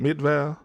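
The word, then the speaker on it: Midvale: That's how you pronounce that. Midval.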